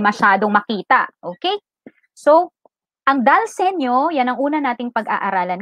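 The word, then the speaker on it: dal segno: Dalsenyo stands for an Italian phrase Ang pagkaka-pronounce daw dyan ay Dalsenyo. Senyo.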